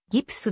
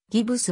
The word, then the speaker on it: ギプス: デラックス 220 ビット撮影日本語のギプスの語源はギプスである日本でしばしば発音されてしまうギブスは誤り 19 世紀の半ば